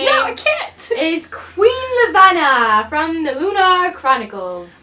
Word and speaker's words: Levana: I can't ace Queen Levana from the lunar Chronicles I thought it was Queen Leviathan for the longest time but they know that's not what spell thing but she is